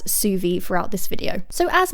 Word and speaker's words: Zuvi: the benefits of the suvi halo hair dryer also it is spelt zuvi but i am gonna pronounce it as suvi throughout this video so